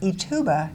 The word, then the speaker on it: Ithuba: So I was trying to do it all phonetically because we're going to be talking about Ithuba shrimp.